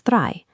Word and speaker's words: drei: Number three is drei. This one is easy to remember because it sounds almost exactly like the English word dry.